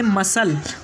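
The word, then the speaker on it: muscle: Disciple, तीसरा word है मसल, उसके बाद में चौथा वर्ड है सेनेरियो। यहाँ एस के बाद सी आया इसलिए यहाँ पर सी साइलेंट होगा।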